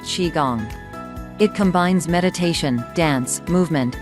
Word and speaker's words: qigong: as the mother of Chinese healing and it's pronounced Qi Gong it combines meditation dance movement and breathing techniques